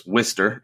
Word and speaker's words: Worcester: pronounce this correctly because business told me it's Wistar and he he was born there I've heard Worcester I've heard Worcester so sorry if I I